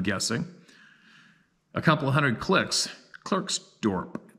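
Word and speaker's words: Klerksdorp: a couple hundred clicks clerksdorp pronounced Clark's dop who would have guessed that pronunciation my best girlfriend Lee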